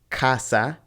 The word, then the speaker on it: casa: In English, the letter A can sound like a, so a lot of times we try to pronounce this word casa. But in Spanish, it's only ever a.